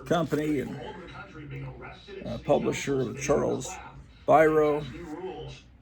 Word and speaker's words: Biro: This is, of course, the Lev Gleason Company and publisher of Charles Biro. I've been told it's pronounced Biro. I always thought it would have been Biro, but anyway, their main best-selling title was Crime Does Not Pay.